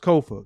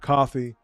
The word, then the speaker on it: Kofa: I am your humble host, Kofa, Kofa, not coffee, not, not Kofi, or any variation thereof. Kofa rhymes with sofa.